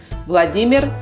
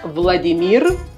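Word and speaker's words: Владимир: es vladímir vladímirovich putin vladímir vladímirovich putin no es vladimir y tampoco tienes es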